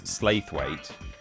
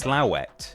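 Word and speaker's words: Slaithwaite: Well, there are there's one level of pronouncing it completely incorrectly, which is Slithweight. Um, but if you want to be serious about this, you should at the very least be saying Slathweight. The the a the I is silent apparently. Slathweight. But if you want to get really really serious about this, it's Slowet. Slow. It's certainly not Slateweight.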